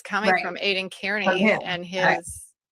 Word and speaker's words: Kearney: Are are you telling me you don't know how to pronounce Carney? I mean, if there's one thing that you know is how to pronounce Aiden Carney's name, you just called him She just called him Kierney.